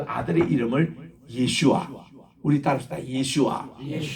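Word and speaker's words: ישוע: 그 아들을 낳으리니 그 아들의 이름을 예슈아. 우리 따라합시다. 예슈아. 예수님을 히브리 말로 예슈아라 했거든요.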